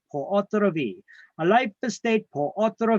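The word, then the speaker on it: pur autre vie: We could have something called a life estate per autre vie.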